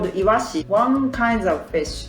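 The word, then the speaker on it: 鰯: more example is this one this kanji called iwashi one kind of fish it's sardines actually this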